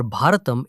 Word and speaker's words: Bharatam: name we use today, whether you pronounce it Bharat in the north or Bharatam in the south.